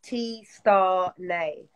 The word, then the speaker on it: Tstarnay: got to do is to help me to pronounce it properly yeah so it's t star nay oh oh T star nay yeah yeah no